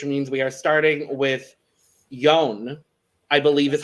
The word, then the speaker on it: Jone: that order, which means we are starting with Jone, I believe is how you say the name. I think we finally learned it. Jone.